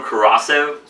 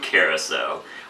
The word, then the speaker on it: Curaçao: with two parts uh blue corrosive carousel blue carousel i was recently corrected in the comments and i appreciate it that's good to do to like pronounce words right anyway blue carousel two